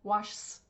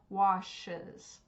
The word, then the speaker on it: washes: Because imagine if we just added an S, it would be washs. It would be really hard to say, right? So we need to add that extra syllable there, washes.